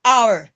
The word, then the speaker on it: hour: the wrong word because there is no wo in this word it is simply our even in flower if